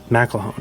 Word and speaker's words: McElhone: McElhone. All right, cool. I would have butchered that last name, so I appreciate the help.